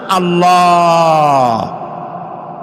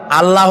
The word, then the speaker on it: আল্লাহ: আল্লাহর নাম আল্লাহ, বলেন তো। আল্লাহ নয় কিন্তু, আল্লাহ হচ্ছে অশুদ্ধ, শুদ্ধ হচ্ছে আল্লাহ। বলার সময় মুখটা গোল হয়ে যাবে।